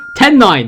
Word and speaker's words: Ten9: Ten9, there you go, that's how you say it.